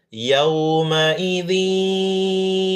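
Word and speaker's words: يومئذ: Yaumaidzi yawaddu yau bukan yau yaumaidzi i bukan i ini hamzah ya walaupun menganga begini tapi bukan ain tapi a i u i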